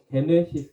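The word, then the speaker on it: γένεσις: 겁니다 계보라 단어가 헬라 게네시스 단어입니다 근데이 게네시스 단어 어디서 많이 들어보지 않았습니까 창세기 시작 기원 이런 뜻을 갖고 있습니다 그래서 그 현대차 제네시스도 똑같은 겁니다 영어식 발음이에요 게네시스 영어식 발음이 제네시스입니다 그것도 창조 그런 거죠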